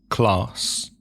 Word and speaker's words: class: Also, the letter A is pronounced differently. For example, in the south of England, you'll probably hear class. Mm-hmm. And in America? Class. Also, I think in the north of England, in some areas. Class.